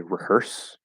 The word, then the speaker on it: rehearse: this particular case um we're more likely to keep the H and say rehearse okay that re at the